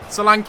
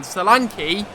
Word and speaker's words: Solanke: Salank, I said his name wrong again, Salane.